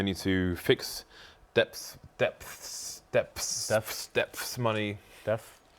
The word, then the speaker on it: dephh: But yeah, I would say dephh because that is intuitively how I would pronounce it as a British person. But you intuitively. It's like depth, like the depth of a swimming pool, minus the T.